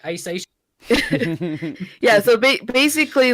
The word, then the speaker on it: Hisaishi: It's basically, like a like, Cockney guy saying, I want sushi, like, Hisaishi.